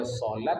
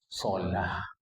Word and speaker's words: salat: Jemaah ada salat, ada salah. Orang Arab tidak pernah menyebut salat. Sebutnya salah. Tak salah menyebut salat itu lidah Iran, lidah Persia.